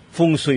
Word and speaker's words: feng shui: paano po makatutulong ang Ito po binabangit natin na fung yan Iba ang pronunciation dito e pero fungsui talaga yan ho kasama natin ang